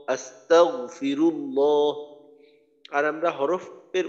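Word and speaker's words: أستغفر الله: আমি বলি তাগফিরুল্লাহ তাহলে কিন্তু কলকলা হবে এখানে গইনটা একবার উচ্চারণ করতে হবে একবারে যতটুকু উচ্চারণ উচ্চারণ করতে হবে এটা যেন দুইবারে এভাবে আওয়াজটা আবার ফিরে না আসে একবারে আস্তাগফিরুল্লাহ আস্তাগফিরুল্লাহ আর আমরা হরফের উচ্চারণ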